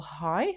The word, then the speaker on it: El-Hai: High. I think that's how you pronounce it, EL-HAI.